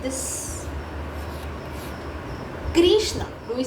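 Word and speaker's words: कृष्ण: And this is the correct pronunciation Krishna. One more version to this. Some people will chant it as Krishna.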